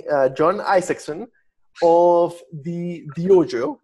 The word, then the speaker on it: Dyojo: john isakson of the diojo and that's spelled d-y but it sounds like dojo so yeah yeah so